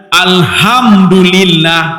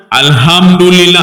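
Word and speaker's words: الحمد لله: Beda dengan Alhamdulillah, kita ha. Kalau Alhamdulillah, segala puji bagi Allah. Kalau kita bacanya Alhamdulillah, celakalah Allah, laknatlah Allah.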